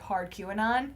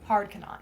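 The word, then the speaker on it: Hardquanonne: um and so we if you look at the name it looks like hard q anon yeah which we were like that can't be right um so uh but yes it is actually pronounced as hard cannot yeah um and so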